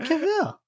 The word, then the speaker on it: Cavill: I said Cavill. It's not Cavell, it's Cavill.